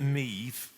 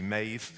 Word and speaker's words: MaEVe: yeah and any questions we called it me as a nod to Steve essentially it was something that rhymed with Steve although it turns out that my Irish pronunciation was wrong and it's actually ma but um the intent was that it was there to rhyme with Steve cool didn't know that